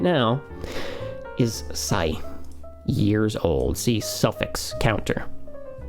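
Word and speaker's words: 歳: Okay, and they're both pronounced sai.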